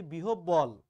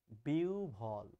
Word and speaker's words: বিহ্বল: এই গানটা দুই লাইন গাইলাম এই কারণেই, এই গানের মধ্যে এই শব্দটা রয়েছে, আমরা বলি বিহ্বল, আসলে ভুল, উচ্চারণটা হচ্ছে বিহ্বল।